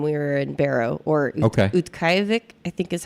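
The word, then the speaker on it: Utqiaġvik: It was unusually warm when we were in Barrow, or Utqiagvik, I think is how you say it, which is actually what the name is now.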